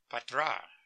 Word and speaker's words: Petra: everybody changed his name it was Julius Petra we pronounced it Patra Patra is the way it pronounced it but they changed his